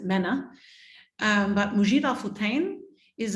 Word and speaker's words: MENA: If you're British, they pronounce it MENA.